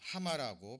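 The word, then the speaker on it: הָמָה: 원어로 하마라고 발음이 됩니다만은 우리말로 이제 분요하다라고 한자어를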